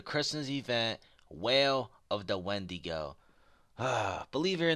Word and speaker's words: Wendigo: And believe it or not, it was Wendigo, not Weedigo. I was like, man, I don't want to put this up on YouTube.